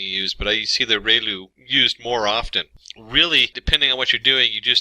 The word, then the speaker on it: ReLU: function we have the relu it's pronounced like Ray the ray from the Sun and Lou like a name so relu function and we have